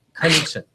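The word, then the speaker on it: Knutsson: If you think of a sneeze, that's the best pronunciation. So, Knudsen, God bless you.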